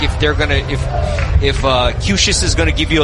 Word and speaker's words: Cuccias: Okay, Matthew Cushis spells his name Cuccias. Thank goodness for pronunciation guides. First appearance here in 2026. As Ziegler Namoa digs in left side, takes strike one. Cushis going to be 90 to 91 with a curveball.